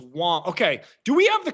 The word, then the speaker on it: Wang: It's Wong. Okay, do we have the correct pronunciation for Jameson's last name? Yeah. Because I'm hearing a bunch. It's spelled W-A-N-G, which would read Wang, but we're hearing Wong.